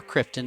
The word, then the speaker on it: Krypton: The film begins on the planet Krypton, or Krypton if you say it like Marlon Brando says it.